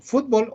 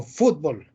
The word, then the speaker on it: fútbol: del inglés fútbol y se adaptó al español con 2 acentuaciones ambas válidas fútbol o fútbol méxico y centroamérica pronuncian agudo fútbol fútbol fútbol españa y la mayor parte de américa pronuncian llana también pueden usar el